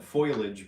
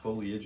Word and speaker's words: foliage: Some of us call it foilage, but I call it I just read it down the way it's spelled, foliage.